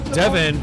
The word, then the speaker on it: Devin: no that's not it so Devin rhymes with seven so he puts seven